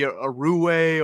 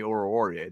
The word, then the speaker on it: Oruwariye: We thought it was like Amani Aruwe or something like that. Aruwe. Yeah. I think it's the real way now is Amani Oruwariye. That's I believe that's the right way to pronounce it.